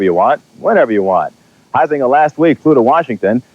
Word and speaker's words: Huizenga: Can you pronounce that name? Sure, Huizenga. How do you pronounce it? Huizenga.